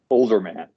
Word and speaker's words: Olderman: here is how do you pronounce your last name properly older man just how it's spelled okay okay olderman